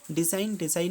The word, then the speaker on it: design: And discipline में क्या silent है, तो डिसिप्लिन में आप देख लीजिए S साइलेंट होगा। डिज़ाइन में क्या साइलेंट आपका, DESIGN, साइकोलॉजी में क्या, P।